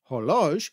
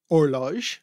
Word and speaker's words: horloge: French horloge, or horloge. Horloge, yes. Horloge. We do not pronounce H. We don't pronounce the H, sorry about that.